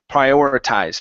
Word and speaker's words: prioritize: so the first one instead of prioritize it's pry it's a long I sound prioritize things so I just